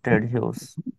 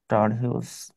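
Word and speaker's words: Ted Hughes: সর্বশেষ রাজকবি যে উনি লিখছিল টেড হিউস। টাড হিউস, উচ্চারণ হবে টেড হিউস।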